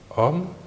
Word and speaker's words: homme: Par exemple, le, article masculin, le café, la, article féminin, la femme, l'apostrophe, l'homme, homme, commençant par un H muet.